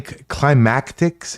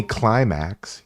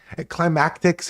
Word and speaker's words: Klymatix: I I mean, climactics is pretty close. At least he doesn't call me climax, you know what I mean? Climactics is pretty it's it's climatics.